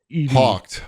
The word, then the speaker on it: Hawked: one say it again hawked hawked like h o c k d h w k hawked Hawk like a bird like a bird hawked